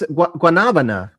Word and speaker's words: guanabana: That's guanabana. Yeah. Well, at least that's how you say it. Guanabana.